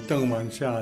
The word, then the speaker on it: Tang Yuen-ha: Tang Yuen-ha, or Deng Wanxia as it's pronounced in Mandarin, and Geng Tianyuan are